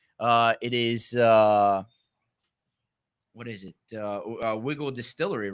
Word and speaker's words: Wigle: about the Pennsylvania whiskey this is wiggle it's it's it's spelled WI GL e and we can hold